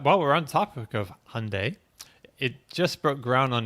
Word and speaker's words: Hyundai: not saying it right how do you say Monday or Sunday Monday Sunday there you go but I want to throw a little Y in there Hyundai okay okay not how